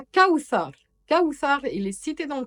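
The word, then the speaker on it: كوثر: Parce que le tha de Kawthar et Kalthum, c'est le TH en anglais de three.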